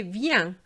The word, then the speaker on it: viens: say viens, we say viens. It's exactly the same pronunciation. So I'm going to repeat this. Bien, rien, tiens, viens. And have you noticed that the S is silent as well?